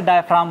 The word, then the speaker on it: diaphragm: जी यहाँ पे साइलेंट होता है, इसे डायफ्राम बोला जाता है, ठीक है।